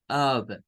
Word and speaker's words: of: lo hemos dicho, pero esta palabra no se pronuncia con una letra F, se pronuncia con una letra V, se dice children of God, of.